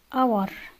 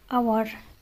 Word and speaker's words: hour: وأيضا كلمة hour hour بمعنى ساعة، برضو نلاحظ إن حرف الإتش لا ينطق.